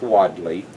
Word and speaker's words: Wadley: by the spelling and my last name is called w ad le and it is pronounced widely and the Wadley collection